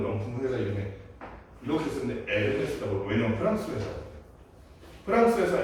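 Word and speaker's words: Hermès: 이거 뭐라고 읽어? 에르메스. 엄청 막 몇천만 원 하는 그 핸드백 있잖아. 그런 거 만드는 명품 회사 이름에 이렇게 쓰는데 에르메스라고.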